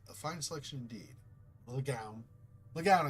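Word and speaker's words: Le Guin: Legoun is, I think, how you normally say it, but Legoin, it would be the French pronunciation.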